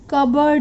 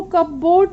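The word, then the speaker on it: cupboard: और बिल्ली कहाँ सो सकती है, कबर्ड में. अब यहाँ पे पी साइलेंट है, आपको इसको कपबोर्ड नहीं बोलना है, क्या बोलना है, कबर्ड.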